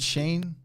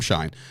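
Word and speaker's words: Schein: Is it Shane? It's Adam Shine. I know that for a fact because I used to work at Sirius.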